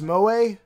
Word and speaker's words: moe: Oh, Mo is pronounced Moe?